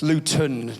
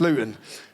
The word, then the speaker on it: Luton: So I say Luton, it's Luton, you'll all know it as. In Luton, we don't pronounce our T's, it's water, it's bottle, so it's Luton.